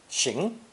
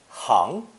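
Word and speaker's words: 行: from today's lesson one the character for our crossroads has two pronunciations xing referring to movements actions and deeds and hang meaning a street and the merchants and occupations on either side of it two the idiom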